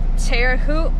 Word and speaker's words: Terre Haute: but I think it's pretty funny when I mispronounced cities but Terre Haute Indiana I think that's how you say it